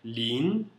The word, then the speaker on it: 零: Zero é lin, L-I-N-G no segundo tom. Lin.